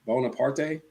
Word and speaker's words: Bonaparte: How do you pronounce that back room? Bonaparte.